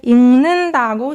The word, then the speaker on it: 읽는다: 읽는다고 생각해. 읽는다. It's pronounced like 읽는다 because of consonant assimilation between 기역 받침 and 니은 consonant. 읽는다.